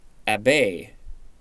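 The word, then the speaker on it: abbé: or Abbey next entry a bay at bay yeah now it looks like it's French 1530 a member of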